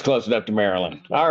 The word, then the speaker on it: Maryland: And she knows how to pronounce Maryland. Not Maryland, They don't do it right here, but don't worry about it. Maryland.